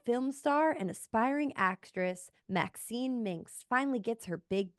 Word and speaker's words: MaXXXine: You have to pronounce it like that, because there's MaXXXine, because there's 3 X's in it, if you didn't know.